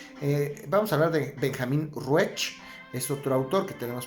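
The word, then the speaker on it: Ruesch: Vamos a hablar de Benjamin Ruech. Es otro autor que tenemos por ahí. Ruech se escribe R-U-E-S-C-H, Benjamin Ruech, y es el primer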